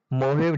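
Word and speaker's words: Mojave: में देखिए, यहाँ पे मोहेव डेजर्ट, देखिए यहाँ पे जे है, साइलेंट रहता है, मोहेव डेजर्ट है, काफी इम्पोर्टेंट है।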